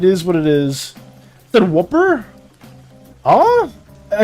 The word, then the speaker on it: Whooper: You're saying it like it's whooper or whopper? It's whooper. Woo. Like wooer. Thinking like it's whopper. I'm saying it like it's whopper.